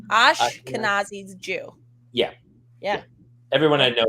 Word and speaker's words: Ashkenazi: Ashkenazi. Ashkenazi's Jew.